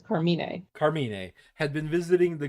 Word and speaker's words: Carmine: The correct pronunciation is Carmine.